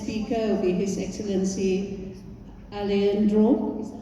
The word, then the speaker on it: Alejandro: And the next speaker will be His Excellency Alejandro, is that how I pronounce it?